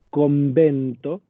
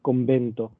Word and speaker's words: convento: Nosotros decimos convento, con B larga, no decimos convento, con B corta, porque en el español actual el sonido de la B corta desapareció hace muchos siglos.